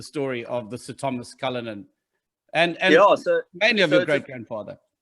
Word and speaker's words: Cullinan: Cullinan.